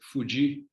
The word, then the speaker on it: Fudi: Fudi e lá ele, quer dizer, Fudi, que é a pronúncia dele mesmo, né?